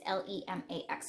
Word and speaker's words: Lemax: It's Lemax.